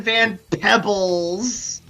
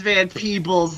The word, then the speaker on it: Van Peebles: first Lawrence Fishburne, now fucking Melvin Van Pebbles. Look back, Cedar. I'm peeking up here. Oh my god. It is Van Peebles, Lamau.